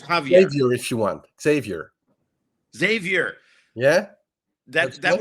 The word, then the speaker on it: Xavier: Xavier.